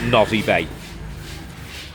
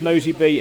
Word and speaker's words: Nosy Be: I don't know anybody who calls it Nosy Bay. It It sounds to me like Nosy Bee. It's pronounced Nosy Bee.